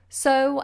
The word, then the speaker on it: sew: up on this so so is to either plant seeds into a into a field a farmer will sow his seeds and so it's exactly the same pronunciation or you can sew with a needle and thread when you mend clothes with a needle and a thread your sewing sewing sew and sew but they are both very different to the